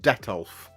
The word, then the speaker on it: Detolf: Gary uh these are from Ikea they're called detolf it is spelled like this d e t o LF